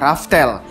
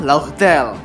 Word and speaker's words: Laugh Tale: Piece yaitu yang sebelumnya dalam pengucapan Jepangnya adalah raftel pada pengucapan alfabetnya adalah laugtel hal ini cukup lama